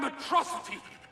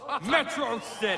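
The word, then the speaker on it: Metro City: THIS IS A DAY YOU AND METROTICITY SHALL NOT SOON FORGET. It's pronounced Metrocity.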